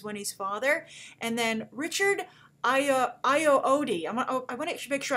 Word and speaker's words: Ayoade: And then Richard Ayoade. I want to make sure I pronounce his name correctly. Ayoade.